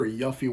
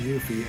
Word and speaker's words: Yuffie: see yuffie yuffie uh I called her Yaffe when I was a kid but then Kingdom Hearts came out and pronounced it yuffie so we'll go with